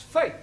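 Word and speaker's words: fete: For example, F-E-T-E is also pronounced fate.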